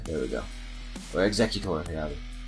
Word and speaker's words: Exeggutor: I don't like the super long neck on now I can't even pronounce it, on Execute. There we go. Or Exeggutor, rather.